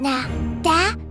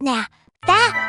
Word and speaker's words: nada: In Spanish, when the letter D appears between two vowels, it softens dramatically.